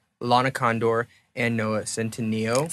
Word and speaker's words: Centineo: Lana Condor and Noah Centineo. Centineo. Centineo. Man, I'm really killing it with these pronunciations.